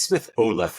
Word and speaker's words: Smith Haut: it basically isi Smith it's Smith Olf like an American um and and I'm sure people will say like I butchered It Anyway hey I'm an